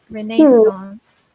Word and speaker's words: Renaissance: yeah number four renascence we pronounce it a little bit like the French I guess Renee's loss yeah there are little